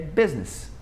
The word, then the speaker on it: business: Porém, tem uma palavra que a gente não pronuncia, que é a palavra negócios, né? Que é business.